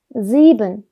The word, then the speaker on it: sieben: 발음을 n이 아니고 은 이렇게 끝을 흐리면서 발음하는 편입니다. 그래서 sieben 하시면 됩니다. sieben 해도 알아는 들을 거예요.